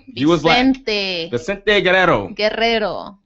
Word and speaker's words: Guerrero: Guerrero. Roll your R's.